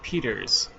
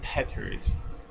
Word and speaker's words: Peters: Um, and it's spelled Peters. It's not Peters. Okay, it's Petters.